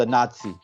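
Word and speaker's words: Anansi: going to be tricky to say it's called a Nazi a Nazi it sounds like you know but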